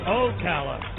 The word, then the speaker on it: Ocala: And mispronounced it both times. According to Patty, maybe. Not according to Muck. It's Ocala.